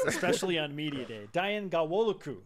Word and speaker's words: Ghanwoloku: Dayan Ghanwoloku. The N is silent.